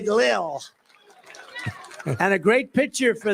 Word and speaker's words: Lil: L-I-L. Lil. I said, how do you pronounce that? They say Lil.